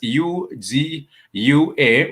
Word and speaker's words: ugua: For example, in the word ugua is spelled U-G-U-A, ugua. You simply read it. You simply pronounce it as ugua because it starts with the letter U or the vowel U.